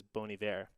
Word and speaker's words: Bon Iver: little bit differently so he pronounces it as bonivare the song is from